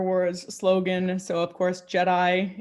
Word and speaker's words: GEDI: So of course, Jedi is spelled with a G, but pronounced like a la Star Wars.